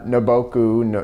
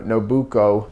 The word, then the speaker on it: Nobuko: um him and uh naboku nobuko i think is how it say i keep saying it wrong um are married their